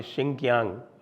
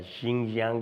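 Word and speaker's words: Xinjiang: Urumqi है बिल्कुल सुदूर पश्चिम में, चीन के सुदूर पश्चिम में, जो आपके सिंकियांग या शिंगजियांग जिसको आजकल वो बोलते हैं अपनी नई प्रोनाउंसिएशन में।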